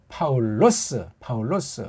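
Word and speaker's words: Παῦλος: 헬렌말 발음으로는 파울로스.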